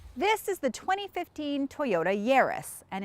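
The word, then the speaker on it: Yaris: is the 2015 Toyota yarus and it's pronounced Yus like Paris not like yard trust me because we've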